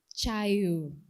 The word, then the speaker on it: Chayu: And then she talked about her pen name, which tends to be mispronounced, but the true pronunciation is, let's see. Yeah, my memory has failed me. Chayu, which means shade.